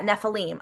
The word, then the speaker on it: Nephilim: Yeah, Nephilim.